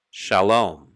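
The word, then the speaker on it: שלום: shalom we know that it starts as you see here in yellow with an open syllable just the letter sheen and a vowel underneath called the kamats for the ah sound and that would give us sha sha shalom shalom so we proceed to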